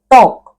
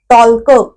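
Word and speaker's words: talk: अगदी नेहमीच क्रियापद आहे आता टॉक स्पेलिंग बघितलं तर मध्ये एल येतो टी एल के टॉलक असं थोडीच म्हणतो आपण तो ल म्हणतच नाही आपण म्हणजे एलचा उच्चार आपण करत नाही म्हटल्यावर टॉप मध्ये एल हे अक्षर झालं सायलेंट आयलन आयलन आता आयल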